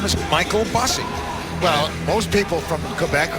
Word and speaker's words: Michael Bossy: His name is Michael Bossy. Well, most people from Quebec whose name are spelt like that is Michel. That's the way the French like to pronounce most Michaels.